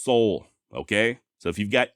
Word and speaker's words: Soule: even seen some spellings in old documents where the e at the end has an acute accent but according to the actual Soul family I'm talking silas's great great nieces and nephews it is pronounced Soul okay so if you've